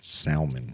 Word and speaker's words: salmon: you should paint it salmon salmon like that that's a free color fifties the l salmon like l is silent uh i will pronounce